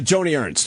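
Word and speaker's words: Joni Ernst: Oh, uh, Joanie Ernst.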